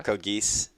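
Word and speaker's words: Code Geass: mispronounce it uh I I think it's just code g or code geese geese yeah like Arthur it's like Arthur yeah okay uh I would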